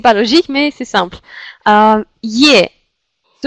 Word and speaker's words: е: Il se prononce comme yé quand elle est accentuée.